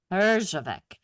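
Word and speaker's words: Herjavec: Parjave Arjavec.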